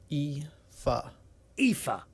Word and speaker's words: Aoife: Now, it looks like Alfie, but that's not correct. And he's sent a little YouTube clip, I think this is his voice, of how to say his name. So let's have a little listen to this. Aoife. Aoife. Aoife. Aoife. So that's how you say it.